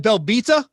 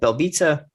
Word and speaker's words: Belbita: It looks like Belbita. That's not how it's pronounced. Yeah. They said it's like pizza at the end.